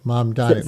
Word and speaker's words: Mamdani: Mamdani. Mom, like everybody has a mom, right? We call her mom. Right. And Ronnie Reagan, Connie, Bonnie, those common girls' names.